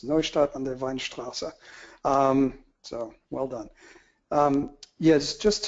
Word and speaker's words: Neustadt an der Weinstraße: Actually, you did pretty well with the pronunciation. It's Neustadt an der Weinstraße.